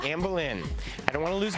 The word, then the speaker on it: Anne Boleyn: Well, I'll say Anne Boleyn. That's right, Anne Boleyn. I don't want to lose my head over the pronunciation.